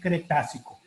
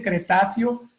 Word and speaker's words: Cretácico: En términos muy sencillos para llevar una explicación geológica, el Cretácico, en realidad la pronunciación es Cretácico. Cuando Ok, alguien dice Cretáceo, ya sabemos que no es geólogo.